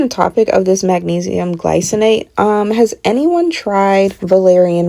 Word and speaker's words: glycinate: Glycinate, not glys-i-nate or gly-sin-ate. Gly-cin-ate, with a stress on the first syllable. Gly-cin-ate. But, back on the topic of this magnesium glycinate, um has anyone tried valerian root?